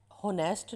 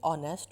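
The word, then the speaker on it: honest: ये होनेस्ट नहीं होता, ये ऑनेस्ट होता है। ये इसकी प्रोनाउंसिएशन जो है वो ऑनेस्ट है, तो ये ओ की आवाज़ देगा, ऑनेस्ट।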